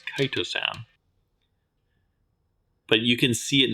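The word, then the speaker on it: chitosan: commented on my pronunciation it's not Cheetos San apparently it's kitosan but you can see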